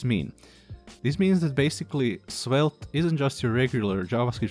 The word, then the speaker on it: Svelte: created by rich harris of course and it's pronounced spelt if you prefer reading i'm going to include